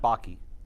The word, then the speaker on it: Bakke: His name is, it's pronounced Baki.